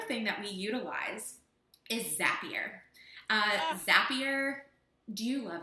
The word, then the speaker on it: Zapier: because I was like how do you say it zapier zappy and she goes you'll be happier with zapier I'm like oh I